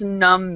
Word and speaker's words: numb: num num okay so in this word the B is Sil silent be a silent and what does numb mean anyone so it's